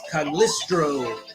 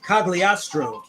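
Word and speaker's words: Cagliostro: to help him intercept cagliastro I said it wrong the first time clown decided to get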